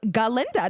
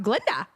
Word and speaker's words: Galinda: Grande plays Glenda and her name is really galinda and the professor can't pronounce it and she's like I don't understand why it's that hard it's galinda not Glenda I'm dead no literally